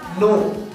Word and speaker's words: know: For example नो, KNOW, यहाँ N से पहले K आ रहा है इसीलिए ये K साइलेंट होगा, इसे हम नो पढ़ेंगे।